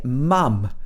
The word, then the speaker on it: mum: the american english pronunciation in british english we say mum with this a sound mum mum and it's